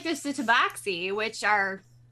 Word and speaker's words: tabaxi: the tabaxi, which are Which there are weird ways to pronounce that, like the Yeah. tabashi. I think it depends on if you decide to go with a hard or a soft X sound.